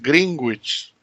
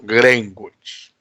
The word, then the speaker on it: Greenwich: y para nosotros no entonces es greenwich y no greim words ahora qué pasa es